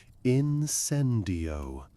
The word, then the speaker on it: incendio: He showed them the wand movement, a sharp downward flick with a wrist turn and the correct pronunciation incendio with accent on the second syllable.